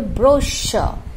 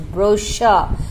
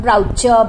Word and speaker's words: brochure: Please send me the brochure and an application form. Children, the correct pronunciation is brochure, not broucher.